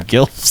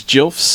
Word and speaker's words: GILF: Dim gilfs. Yeah, grandma's. The correct pronunciation is Jilfs. Oh, Jilfs? According to the creator of Jilfs.